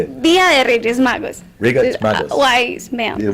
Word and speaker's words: Reyes Magos: of the Wise Men, but in Spanish it's Dia de Raya Magos. Explain it to me. I turn it back. How do you say it? Dia de Reyes Magos.